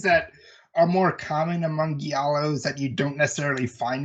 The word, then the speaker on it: giallo: But yeah, the J-Lo. Sorry, how do you say that? I hear it's like giallo. Giallo.